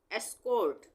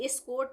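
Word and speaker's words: escort: इसको हम क्या पढ़ेंगे एस्कोर्ट एस्कोर्ट स्कोट नहीं पढ़ेंगे एस्कोर्ट तो क्यों पढ़ेंगे ई से शुरू हो रहा है यह वर्ड और ई के बाद डबल कॉन्सोनेंट है एस भी कंसोनेंट है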